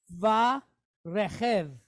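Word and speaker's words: ורכב: Then we have a Chaf. All right. Why is it Chaf and not Kaf? Because there's no dot inside. So it's going to have that softer sound. Okay. So we have a Chaf, and it's pointed quick E, Segol, with a Vate behind it. Chev. All right, so we have Va Rechev. All right, Va Rechev.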